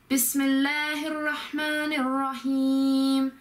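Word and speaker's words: بِسْمِ ٱللَّهِ ٱلرَّحْمَٰنِ ٱلرَّحِيمِ: So Bismillahirrahmanirrahim. You have to link all the words together to make it sort of flow better.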